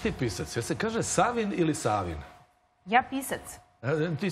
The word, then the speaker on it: Savin: Da li se čita Savin ili Savin? Ja kažem Savin, pošto sam ja iz Valjeva. Ja negujem te duge akcente, tako da...